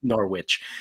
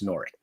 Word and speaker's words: Norwich: First of all, Google how to pronounce that, because I was about to butcher it by calling it Norwich, and it's not, it's Norwich.